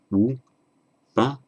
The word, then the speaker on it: Upanishad: Remember the S becomes a sh, followed by a vowel other than a or a in the same word, so immediately preceding in